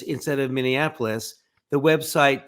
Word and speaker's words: Minneapolis: and said yeah I think it's nine he mispronounces names in places with some regularity charlott town instead of Charlottesville miniapolis instead of Minneapolis the website snoops instead of Snopes Leon musk